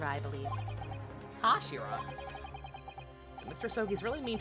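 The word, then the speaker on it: 頭: it's written his head in japanese but it's pronounced as kashira i believe kashira so mr sogies really mean twist the butt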